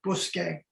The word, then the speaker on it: Bousquet: Like everybody else, the last name is pronounced Bousquet.